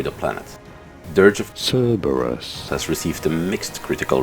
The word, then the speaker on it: Cerberus: of servers kerbers in Greek this is said Kerberos in English however this is said Cerberus you're the one to stress on the first syllable Dirge of Cerberus the